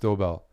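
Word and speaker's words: Doeberl: twitch's uh hand dobel it's pronounced doorbell that makes sense I was like that's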